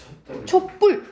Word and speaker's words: 촛불: 촛불. 된 소리 나지, 그치? 그때 시옷이 들어가는 거예요.